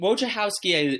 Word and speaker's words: Wojciechowski: Wojciechowski is correct, but I've heard Wojciechowski, Wojciechowski.